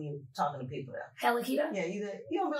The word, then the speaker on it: Hella Keto: Hella Keto. Yeah, you don't be like Hella Keto.